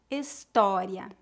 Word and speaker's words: história: Se a palavra tiver acento agudo, a pronúncia é aberta.